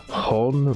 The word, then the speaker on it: Johan: J is a H sound, and then H is silent in Spanish. Hon 40 and Nestor Vera, alias Ivan Mordisco.